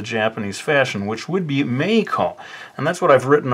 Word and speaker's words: Meiko: So she remains to this day MEIKO rather than MEIKO. But I think that sort of makes it interesting, don't you think? Rather than just pronouncing it the same way millions of people do in Japan.